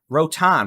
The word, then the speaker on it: Rotan: may be up here, Rotan, we're seeing winds on radar well over 75